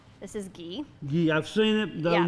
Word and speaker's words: ghee: G-H-E-E, and it's Yeah, G. pronounced ghee.